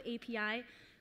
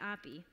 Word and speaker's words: API: going to go with API but Spanish speakers French speakers a lot of people do say Opie okay so the title of this talk apis are eating the universe